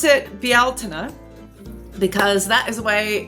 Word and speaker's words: Bealtaine: So, turning of the seasons and I pronounce it bialina because that is the way closest that I can do as an American anyway. That's the way that it's pronounced in Gaelic Irish.